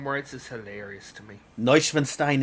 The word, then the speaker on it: Neuschwanstein: Neuschwanstein is how it's pronounced.